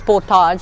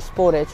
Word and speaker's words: Sportage: how you pronounce because in uk something like car was it is potage but it is actually sportage right here and you